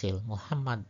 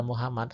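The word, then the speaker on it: محمد: Jadi tuh berikutnya huruf H pada Muhammad H kecil berbeda hasilnya dengan huruf H pada lafaz Allah yang pakai H besar sebenarnya. Kalau di Muhammad H kecil, kalau Allah H besar ya.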